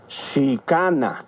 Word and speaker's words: Chicana: Recuerda que en el náhuatl las palabras se acentúan en la penúltima sílaba. Chicana.